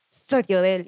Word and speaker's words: Sriodel: Hola, mi nombre es Soriodel y se pronuncia Soriodel y se escribe S-R-I, no Sori, ni si.